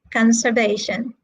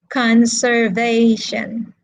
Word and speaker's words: conservation: where is the stress conservation conservation conservation okay it is in the third syllable it is in the